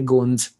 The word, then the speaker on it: Gond: So I think there are parallels between what the way probably Gonds see their way of you life. Call them Gonds. The actual pronunciation is Gond, not Gond. I think that's an anglicized way, but हाँ गोंद हिंदी